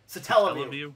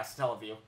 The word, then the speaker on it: Satellaview: Oh yeah, I call it satellite, but it's how do you pronounce that? Satellaview. Yeah, Satellaview.